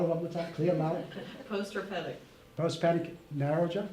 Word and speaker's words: post-herpetic: Because how do you pronounce it? Post-hepatic. Herpetic. What's that? Herpetic? Can you say it louder one more time? Clear loud. Post-herpetic.